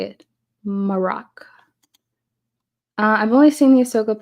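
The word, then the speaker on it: Marrok: Maroc is how you say it. Maroc.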